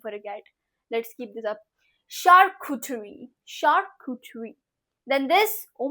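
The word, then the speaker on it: charcuterie: name for यू cat let's keep this up shark कुठरी shark कुठरी then this oh माय God what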